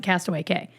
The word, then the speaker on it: Castaway Cay: was a rhyme and it would only rhyme if you pronounced it if you pronounced it Cast Away K I can't remember where